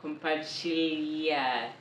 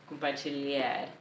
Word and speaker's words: compartilhar: this word is that when you see the L and the H next to each other in a verb or any word, then they're pronounced like a y sound, compartilhar, compartilhar.